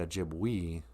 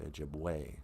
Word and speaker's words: Ojibwe: an e in the ojibwe language e's are pronounced as an a sound kind of like in the word ojibwe you know we don't say ojibwe we say ojibwe so bemidji is uh